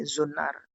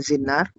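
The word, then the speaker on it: زنار: Ini zunnar. Mungkin ada yang bacanya zinnar.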